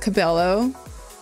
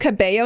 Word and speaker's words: Cabello: together whoa hey Barbie it's pronounced Cabello not Cabello oh see that's what